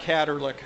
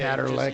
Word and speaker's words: Catterlick: It's a little break from being a CPA, and it's actually pronounced Catterlick CPA. Catterlick.